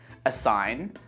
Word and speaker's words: assign: Let's move on to the letter G, and we don't pronounce this letter in words like campaign, assign, design, sign, reign.